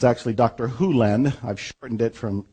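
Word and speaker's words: Hew Len: and it's actually Dr Hulen I've shortened it from E to Dr land but it's actually Dr hulland if you want to say his name correctly and Doctor Who lens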